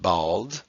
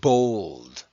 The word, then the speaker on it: bold: milled we have mild instead of balled we have bold instead of cult we